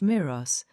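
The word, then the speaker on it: mirage: "May or a G is pronounced Miros," said Valency shortly, picking up her tea and her beans.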